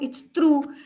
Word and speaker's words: through: So then this should be throw, right? But no, it's through. So it rhymes with boo, right?